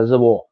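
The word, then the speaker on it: reservoir: इससे French word. इसका pronunciation होता है रिजर्वॉय. रिजर्वॉय. सो हिंदी इंग्लिश में हम जनरली रिजर्वॉय बोलते हैं.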